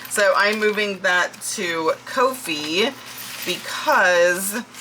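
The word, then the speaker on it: Ko-fi: am moving that to Kofi. Um, and yes, that is how you say it. I looked it up. So, I'm moving that to Kofhei because it's just it's just cheaper.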